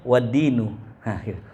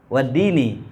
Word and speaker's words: waddini: Alhamdulillahi rabbil alamin wa bihi nasta'inu ala umurid dunya waddinu. Waddinu kan gitu ya. Harusnya apa ya? Waddini, ma'tuf kan?